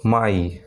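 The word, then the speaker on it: my: ই সাউন্ড হচ্ছে, কিন্তু এখানে কিন্তু স্কাই, আই উচ্চারণ হচ্ছে কিন্তু এখানে স্কাই। আবার একটা শব্দ আছে এম ওয়াই, মাই, আবার কিছু এরকম অনেক শব্দ আছে টিআর ওয়াই, ট্রাই, এগুলো কিন্তু তোমাদের আলাদাভাবে মনে রাখতে হবে।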